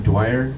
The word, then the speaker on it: Dwyer: Dwyer? Yeah, John Dwyer.